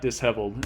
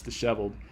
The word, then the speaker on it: disheveled: But that's not how you pronounce the word. It's not disheveled, it's disheveled. And this guy pulled apart the dis part of that to make sheveled, whatever that means.